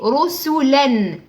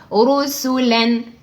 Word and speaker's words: رسلا: Ça veut dire que ce tanwin, tu dois le prononcer clair comme il est. Rusulan, len. D'accord? Rusulan. Ne dis pas de naziment, rien.